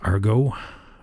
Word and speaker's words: argot: out of the word argo our got it's spelt argot that's our go i think a specialized